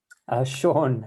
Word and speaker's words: Sean: But anyway, um, do you say Sin or Sean? How do you say your name? Sean, it's nice to Sean, meet you.